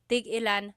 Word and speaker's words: tigilan: So tig-ilan, when there's a hyphen in it, you have to have that glottal stop. Tig-ilan. That means how many of each. When there's no hyphen, tigilan, tigilan.